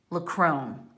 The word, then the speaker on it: LaCrone: That's Jerry LaCrone, is how you say his name.